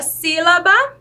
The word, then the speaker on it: sílaba: Quando nós colocamos um S, né, entre 2 vogais sozinho, ele tem o som de quê? De Z. Então, por isso, nós acrescentamos outro S aqui, antes da palavra sílaba, para ele ter o sonzinho de S. Se fosse só um S, teria o som de Z. Então, por isso, tem esse S acrescentado aqui na palavra sílaba.